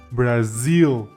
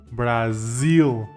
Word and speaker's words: Brazil: un país Cómo se dice Brasil en inglés brazil brazil entonces cómo quedaría nuestra oración I am in